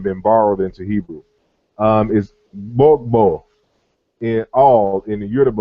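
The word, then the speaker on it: gbogbo: Is bogbo in all in the Yoruba language, and that GB sound is a simultaneous pronunciation. So you say bogbo, you have to say both of those phonemes at the exact same time.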